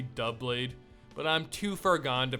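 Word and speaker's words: Doublade: example is no guard D blade yes I know it's technically dub blade but I'm too forgone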